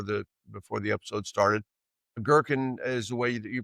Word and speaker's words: Goergen: Girkin is the way that you pronounce his last name.